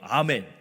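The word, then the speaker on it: Amen: 성이에요. 아멘. 우리말로 아멘하고 스펠링이 똑같아요. 성이 아멘인 다니엘 아멘 박사님이 있습니다.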